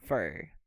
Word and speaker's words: for: And remember, Pedro, that when you have the for in a long sentence or when you are saying a lot of words, you pronounce fur. You don't say for, you say fur.